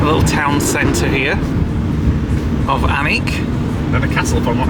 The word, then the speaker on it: Alnwick: And as you can see, it's spelled Alnwick, but it's actually pronounced Alnwick. Unless we're completely wrong, but that's what we've been listening to people, haven't we? And the L and the N are not pronounced. Yeah. So it's like Alnwick. On that suit and wore